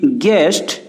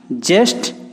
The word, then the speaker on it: guest: इटा हेंदा GUEST गेस्ट, GUIDE गाइड, जेस्ट की जाइट ने हेबार।